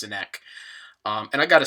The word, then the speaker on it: Sinek: So the name of the guy that I'm talking about is Simon Sinek. Okay, or I've also heard it pronounced Sinek, but I believe it's pronounced Sinek.